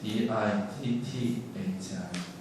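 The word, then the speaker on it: diṭṭhi: T가 이제 T 아래 점이 있는 T야. 이건 이렇게 혀를 이렇게 말아서 우리가 영어에서 R 발음하듯이 혀를 이렇게 말아서면 그냥 타가 아니고 T가 아니고 퇴. 그러니까 이렇게 혀를 이렇게 딱 말아서 번선을 주면 뭐 그렇게 해야 돼요.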